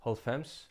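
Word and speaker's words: hálvfems: 90, holfems, halv femte sinds tyve, half fifth time 20.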